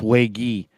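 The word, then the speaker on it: Waege: how it goes but Spencer wakey and it is pronounced way gee who's been really really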